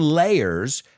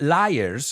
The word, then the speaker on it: layers: none supposedly it's because the canyon layers not Liars I've heard people mispronounce this word the canyon layers were